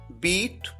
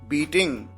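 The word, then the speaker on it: beat: यहां पर अगर आप ध्यान दें तो बीट की सेकंड फॉर्म को भी उसी तरह से प्रोनाउंस किया जाता है जैसे फर्स्ट फॉर्म को, यानी बीट। कई बार स्टूडेंट्स गलती करते हैं, वो प्रोनाउंस करते हैं बेट, यहां पर बीट प्रोनाउंस किया जाना है।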